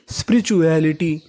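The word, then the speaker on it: spirituality: English में कहीं पर टी यू ए एल लिखा मिले तो आपको उसका उच्चारण करना है चूअल। तो मीनिंग बनी स्पिरिचुअल। आखिरी में लिखा है आई टी वाई, इसे पढ़ेंगे इटी, तो पूरी मीनिंग बनी स्पिरिचुअलिटी।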